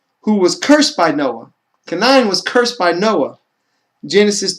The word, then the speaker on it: Canaan: It says some of the sons of Canaan, so you say his name how it's supposed to be, is Canaan, have the same name as some of the descendants of Enoch, who was the son of Arba, or Arbai.